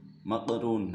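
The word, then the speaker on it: مقرون: Bacanya mafruq, maqrun.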